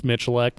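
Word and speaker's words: Miculek: his last name yeah most people mispronounce it it's michelech so yeah jerry mitchelleck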